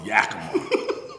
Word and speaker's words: Yakima: And then, so then you end up going to, how you pronounce it, man? Yakima? I went out to Yakima.